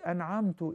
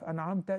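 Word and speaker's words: أنعمتَ: So if you say an'amtu instead of an'amta, you messed up.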